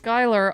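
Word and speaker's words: Schuyler: Phonetic Alphabet if I today I learned that Sher street is pronounced Skyler I've lived here almost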